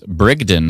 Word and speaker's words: Brigden: I don't like the look of this Brigden storm. That's right. I pronounced it right for the first time in my life.